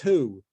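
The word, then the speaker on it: היא: There's also, by the way, routinely the word in Hebrew he, which means she, appears in Torah, and we pronounce it as who every time it appears, which means he.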